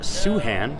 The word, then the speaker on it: Soohan: know that much and I'm sitting here with soo Han that is how you pronounce it you see Han su Han yes